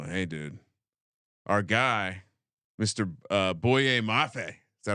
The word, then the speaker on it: Boye Mafe: Boye Mafe.